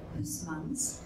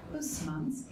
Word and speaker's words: Huysmans: And Huysmans, whose name I really wanted to pronounce right, because we pronounce that Huysman here in France, Huysmans, who is a professor